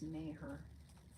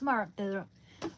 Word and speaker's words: Maher: I think it's May her pronunciation Bill. No. Yeah. Okay. Bill Maher. Mah. It's Mar.